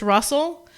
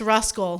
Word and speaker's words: Ruscle: We learned like our russality was changed a few weeks ago when Russell is spelled Ruscle in ruscledew, and I always assumed that it was just Russell, but it's not. It's Ruscle.